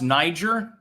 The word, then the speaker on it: Niger: Yeah, no, it's pronounced Niger. Oh, okay. I've heard it pronounced both ways, Niger and Niger.